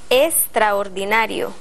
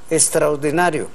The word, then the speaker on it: extraordinario: palabra exquisito o extraordinario la letra X Cómo se pronuncia como s exquisito extraordinario el español americano es